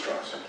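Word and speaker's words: Strauss: Goron who's kill it Mr straws is pronounced straws I've gone back and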